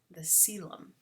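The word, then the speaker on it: coelom: think it's pronounced like co but it's actually pronounced uh silent the celem very that's i know that one is pronounced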